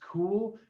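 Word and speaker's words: Kühl: jacket before which is k-u-h-o which they actually pronounced cool but i i just can't say i mean who says they wear cool pants or a cool vest or a cool jacket i'm going to say call okay okay but anyway great great brand um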